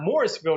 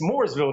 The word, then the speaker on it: Mooresville: i said no no it's not morrisville north carolina it's mooresville north carolina they said i don't